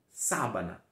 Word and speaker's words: sábana: a Anna cama cama isso é muito importante você entender que o ar em espanhol não é nasal e sim o oral abrindo sempre a boca tão sabana na Savana gostou Então